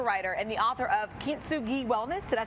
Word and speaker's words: Kintsugi: So Candace is a travel and culture writer and the author of Kintsugi Wellness.